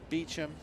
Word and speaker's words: Beauchamp: Nick Beauchamp, or potentially Beecham. If you watch the TV show Outlander, it's pronounced Beecham.